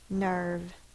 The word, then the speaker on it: nerve: That silent E is only to protect the V at the end of the word. Nerve.